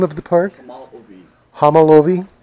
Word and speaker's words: Homolovi: Homolovi. Homolovi? Homolovi.